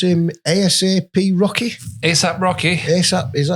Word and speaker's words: ASAP Rocky: So, do you pronounce him ASAP Rocky? ASAP Rocky.